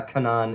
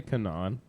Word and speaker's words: Canaan: does I mean it it has a double A so I pronounce it with a long I call I call it Canan yeah most everyone does